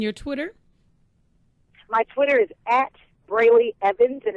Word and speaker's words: Brely: okay fantastic and your Twitter my Twitter is brayy Evans and it's spelled b r e l y e v